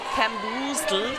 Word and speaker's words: Camboozled: Lethal weapon for Chinese nations roller derby and Team West Indies camboozled. How do you say camboozled? Camboozled, that's right. Camboozled. Yeah, spot on.